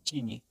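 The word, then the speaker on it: ch'iñi: No es chiñi, sino chiñi.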